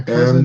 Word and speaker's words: Cousin: My cousin And is some. since this is a French word, Oh, okay. it is pronounced cousin.